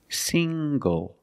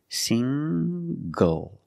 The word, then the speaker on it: single: also this word single single the n g makes the nasal sound plus the hard G single single I'm not single I'm